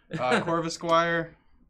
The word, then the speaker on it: Corvisquire: Corvisquire.